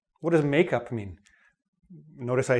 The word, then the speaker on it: makeup: What does make up mean? First, notice the different stress. Make up. The stress is on the make. Make up. The stress is on the up.